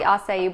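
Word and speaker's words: açaí: so if you don't know what acai is it's spelled a CAI some people think it's a CAI it's pronounced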